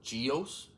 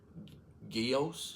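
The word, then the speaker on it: Gyaos: He's fighting uh how do they pronounce it? Geos or guos or it's g y a os.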